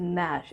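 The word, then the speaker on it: gnash: The next word is नैश। इसके pronunciation पर ध्यान दीजिएगा, इसमें जी साइलेंट है।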